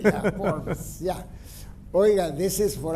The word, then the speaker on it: Forbes: So everywhere in the world it's pronounced Forbes, except the town where my ancestors came from is Aberdeen, and they pronounce it Forbes. 2 syllables. So you pronounced it correctly. In the Irish style, not in the American way.